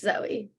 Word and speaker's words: Zoe: at mosheva Indian Orchard Zoe or Zoe what's the right pronunciation um it's Zoe hi I'm Zoe I